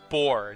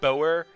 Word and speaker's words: Boer: bore bore bore bore that's what one of you guys told me how to pronounce it it's bore not Boer whatever it's bores so